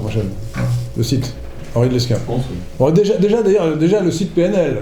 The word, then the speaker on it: Lesquen: Alors le S se prononce, à la différence de l'aéroport de Lille, qui n'a rien à voir avec moi, on dit Lesquen.